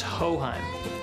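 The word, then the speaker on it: Hochheim: texans who don't know how to pronounce our name but the generations of texans who have depended on hohein for their home farm auto or commercial coverage will never forget it it's ho-hum and when our house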